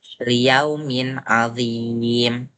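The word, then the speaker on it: لِيَوْمٍ عَظِيمٍ: Mim sukun bertemu dengan ain yang hukumnya ialah izhar syafawi yang berarti dibaca dengan jelas. Jadi cara bacanya ialah liyaumin adim. Dia bacanya jelas.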